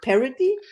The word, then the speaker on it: Paradis: today's guest is parody he said we parody that's perfect par yes and I love that name so much so I can pronounce it the whole day long I am